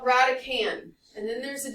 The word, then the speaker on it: radicand: the radical is called radican and then there's a d on the end it is not pronounced radicand that's not how you say it the D is silent it's called radican coefficient